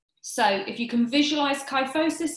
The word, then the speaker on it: kyphosis: main postural faults the first one is called kyphosis I'll spell it k y ph o s is so kyphosis is rounding of the shoulders or